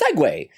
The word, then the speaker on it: segue: Well, because it's the word. It's segue. Like you segue into a new topic of conversation.